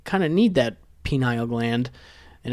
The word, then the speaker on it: pineal: Like almost like pine needle.